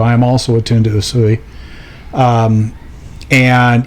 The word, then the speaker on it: Usui: The one that most people, if you just say Reiki, the one most people think of is Usui, USUI. That's how you say it.